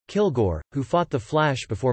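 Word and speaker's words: Kilg%re: from outer space named kilg percent re pronounced kilgore who fought the flash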